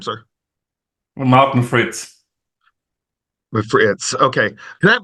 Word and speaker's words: Fritz: do you say your last name sir Martin Fritz Fritz okay I have like turl t i